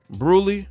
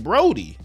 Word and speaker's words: Brodie: identified the victim as uh Tisha bruly this is how you pronounce it family and friends have said her name is Tisha Brody they said that she